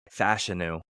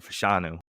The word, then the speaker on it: Fashanu: I think Ola fanu or sorry fashion apparently is how you say it I was just aware of It's Fashion I've been saying fashanu and I've heard everybody say fashanu for so long apparently it's fashion now um he's way too